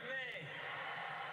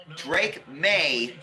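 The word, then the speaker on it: Maye: Yeah, the E is silent.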